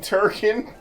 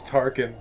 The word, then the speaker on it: Tarkin: imagining grand moth grandmother wasn't his name turken no it's tarkin tarkin but it's so